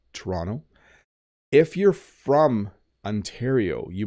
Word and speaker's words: Toronto: province I'm in but you should say Toronto Toronto some people if you're from Britain I hear people from Britain often say I'm going to go to Toronto Toronto and they make the T but in Ontario we often say Toronto or Toronto I'm going to go